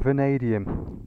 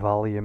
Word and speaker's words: vanadium: And that word there is chrome vanadium. There you go, Matt, you know how to say it now. I have to say that I struggle with it at times. I used to call it chrome valium and all sorts, if I don't have